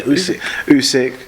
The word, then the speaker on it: Usyk: klitschko brothers yeah um usic how do you pronounce her name is it usyk yeah usyk yeah man like i i personally just think